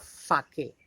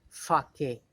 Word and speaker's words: sake: had a cup of sake. See, children, this word, Japanese word, we write S-A-K-E, but S-A should be pronounced as fa, just as in father, and K should be pronounced as K, K, Fake.